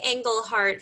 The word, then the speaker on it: Engelhardt: harvey england how do you say it harvey engle heart funeral services i knew i was gonna screw